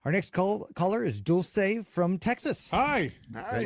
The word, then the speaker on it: Dulce: Well, my name is Dulce, commonly known as Dolce, because a lot of people pronounce it that way. Either way is fine.